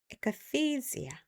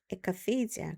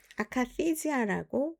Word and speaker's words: akathisia: akathisia, akathisia. 그래서 영어로 이제 순수한 영어 발음일 경우에는 에라는 말이 잘 안 들려요. 그래서 커가 좀 더 크죠. akathisia, akathisia. 근데 우리나라의 정신과에서는 아카시지아라고 발음이 되는 경우도 있어요.